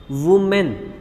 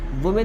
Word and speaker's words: women: वुमेन, देखो बच्चों वुमेन, WOMEN, वुमेन नहीं बोलते बच्चों, वीमेन बोलते हैं इसको, फिलहाल मैं भी गलत प्रोनाउंस कर दे रहा हूँ, ठीक है।